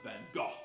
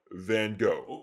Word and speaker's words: Van Gogh: It's pronounced Van Gogh. Okay, not quite sure how correctly you pronounce that, but I do think I will stick with what's generally accepted here in America, Van Gogh.